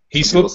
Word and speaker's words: Heaslip: last name hey yeah it's actually up for debate is a little bit of a family a family feud over that I say he slipped he slips they had ice lady's